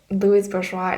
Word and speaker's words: Louise Bourgeois: me if I'm wrong I do know Louis Bourgeois is the way you pronounce her name though because it's French so he encouraged her